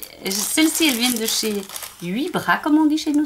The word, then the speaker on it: Wibra: Alors, celles-ci, elles viennent de chez Wibra, comme on dit chez nous. Ça s'écrit W-I-B-R-A.